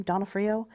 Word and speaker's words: D'Onofrio: D'Onofrio.